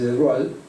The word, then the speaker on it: de Broglie: francés Louis de Broglie, se escribe de Broglie, pero se dice de Broglie, que era príncipe, el